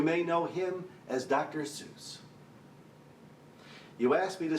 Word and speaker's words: Seuss: Well, my dad always said it's pronounced Seuss, and since he knew German, I figured he was precise.